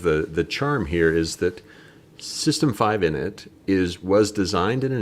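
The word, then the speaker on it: System V: the letter is V, but it's always been pronounced as 5, as in the Roman numeral 5. Got it. Why we're moving from, forget the system 5, why we're moving from init to systemd.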